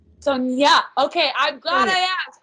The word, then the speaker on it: Sonja: Is it pronounced Sonja? Sonia. Sonia.